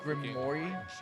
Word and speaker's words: Grimoire: It's actually pronounced Grimoire. Grimoire? Not Grimoire? No, the French is bad. It's a Grimoire. You have to say it.